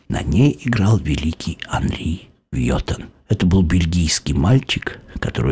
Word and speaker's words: Вьетан: Так вот, Вьетан, Анри Вьетан, или Анри Вьетан, как у нас чаще всего говорят, например, в России мы произносим на французский манер Вьетан, потому что когда он